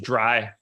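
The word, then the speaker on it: Drey: as highly regarded as Dre Jameson is at this point. It's pronounced dry.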